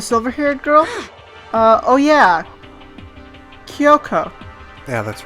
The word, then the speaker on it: Kyoko: you know the silver haired girl oh yeah Yoko yeah that's right that's the correct pronunciation hmm what about her what I took